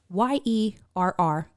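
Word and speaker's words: yerr: It is Y-E-R-R. And if you really want to get it, like it's like then it's the accentuated yer.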